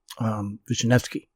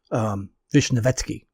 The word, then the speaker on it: Vishnevetsky: the Dnieper, name was Vishnevsky, and he was by far the wealthiest of this elite. Vishnevetsky, I'm sorry, is how you properly pronounce it.